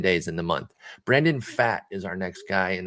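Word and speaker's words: Pfaadt: these next 10 days in the month brandon fat is our next guy and that is how you pronounce it it's p f a a d t p f a a d t brandon fat and um he spent most of his time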